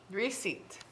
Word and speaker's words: receipt: our guide helping okay receipt can i just say that there's a silent letter in there i'll just say yes